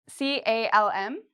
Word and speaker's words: calm: So L is silent in words like calm and talk.